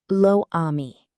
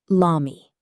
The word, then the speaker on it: l'ami: Forgetting elision. Lo ami. Correct, l'ami. French dislikes two vowel sounds together. That's why le changes to L apostrophe.